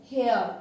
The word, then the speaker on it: hare: Next जो है HARE, it also pronounced as हेयर.